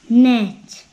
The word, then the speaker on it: nest: Nhưng mà cái st nhẹ thôi.